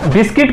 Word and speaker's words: biscuit: जैसे प्रोनाउंसिएशन किया जाए तो BISCUIT, तो बिस्कुट हो सकता है, बट उसे प्रोनाउंस करते हैं बिस्किट।